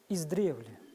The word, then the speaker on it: издревле: преподаватель филологического факультета СФУ Поставьте правильное ударение издревле или издревле ваш ответ давайте послушаем правильный ответ правильный ответ издревле издревле да команда синих